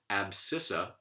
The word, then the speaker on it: abscissa: that are nonetheless stressed so abscissa the second the last syllable here would be sit that is clearly a light syllable alabama ii last syllable